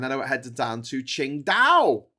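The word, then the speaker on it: Qingdao: I headed down to Ching Dao. Ching Dao which is famous for its beer which isn't spelled like that.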